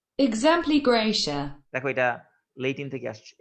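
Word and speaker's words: exempli gratia: দেখো এটা আমি তোমাদেরকে শোনাই দিই, এটা কি বলে উচ্চারণটা। Exempli Gracia.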